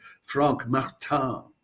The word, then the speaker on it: Frank Martin: It's Frank Martin's uh Katpur guitar for so that's probably I guess I should pronounce that Frank Martan and that means four